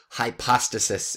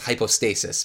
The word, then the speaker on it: hypostasis: was a substrate or hypostasis in Greek. So you'll sometimes hear it pronounced hypostasis, but more often hypostasis.